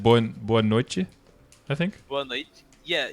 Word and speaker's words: noite: I have to say noite because I have people from actual Portugal and they get mad if I use the Portuguese, the Brazilian Portuguese. Because I think in Brazilian it said boa noite.